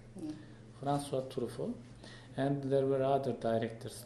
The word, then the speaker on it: François Truffaut: François Truffaut, is it correct to pronunciation? Yeah. François Truffaut.